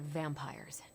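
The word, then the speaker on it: vampyres: are, they're vampires. I see. No, I do not. You already said they were vampires. Vampires with a Y? Pronounced exactly the same as vampires.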